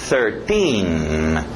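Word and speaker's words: thirteen: TH de sapo, 13. Esse final, T-I-N-I, para no N.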